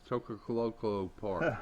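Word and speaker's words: Choccolocco Park: Y'all pronounce that for me. What's that park? Chocoloco Park.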